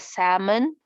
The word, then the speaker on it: salmon: life cycle of salmon we pronounce it as salmon you don't read the l this one is vocabulary